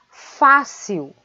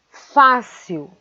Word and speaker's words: fácil: Depois vem a palavra fácil. Fácil. Fácil. A sílaba fá é a sílaba tônica.